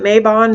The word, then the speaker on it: Mabon: celebrate my Thanksgiving at how I pronounce maven some people pronounce it Mabon Maybin we've already been over